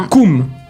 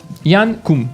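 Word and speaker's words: Jan Koum: Yann Koum. Ça s'écrit J-A pour Yann. Et Koum, K-O-U-M. Yann Koum.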